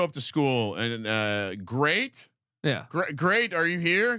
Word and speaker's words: Great: I'll I'll uh let's let's pronounce great his first name's great he's going on the list G re a t I love the way